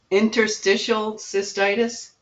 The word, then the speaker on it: interstitial cystitis: heard of it me neither um not really Interstitial cystitis yes that's how you say it yeah it's